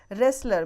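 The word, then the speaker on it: wrestler: रेसलर में आप टी देख रहे हैं वह साइलेंट है।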